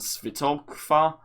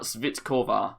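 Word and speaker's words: Svitková: But we move into midfield where we are going to be putting in Castellanos and Svitokva. I have messed that name up so badly. Katerina Svitkova.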